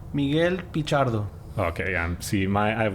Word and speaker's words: Miguel Pichardo: Am I pronouncing this right? Miguel Pichardo? Miguel Pichardo.